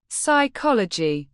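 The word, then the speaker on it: psychology: ও এলজি ওয়াই সাইকোলজি অর্থ মনোবিজ্ঞান এখানে পি এর পরে এস আছে তাই পি লেটার দি সাইলেন্ট থাকবে পি এস ওয়াই সিচ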